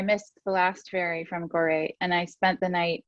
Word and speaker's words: Gorée: first visits to West Africa, the island of Gorée. Is that the right pronunciation? Correct. And you wrote, that evening I missed the last ferry from Gorée, and I spent the night amid new friends